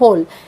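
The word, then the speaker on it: whole: वो जान वाली है ये होल का मतलब होता है पुरी यहां पे डब्लू लिखा हुआ है मगर ये साइलेंट है हमें डब्लू को प्रोनाउंस नहीं करना है सिर्फ होल हा ओ ल ए इस तरह से होंगे ब्लू यहां पे साइलेंट हो जाएगा नेक्स्ट है मीत मीत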